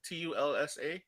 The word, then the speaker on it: Tulsa: It's called the Tulsa. How do you say it? TULSA.